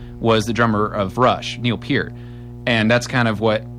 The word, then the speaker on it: Neil Peart: So as Rush elitists, I am bound by the core of my honor to let everybody know that it is pronounced Neil Peart.